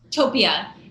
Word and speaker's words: Topia: how i say it right topia no utopia it actually means place and greek that's how to um